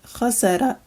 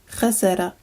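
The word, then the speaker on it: خسر: Finally, this word is pronounced khasara, khasara, and it means to lose.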